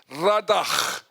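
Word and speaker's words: רדה: The word dominion, the Hebrew word is radag. You spell it R a D a H. But that H is 'n G.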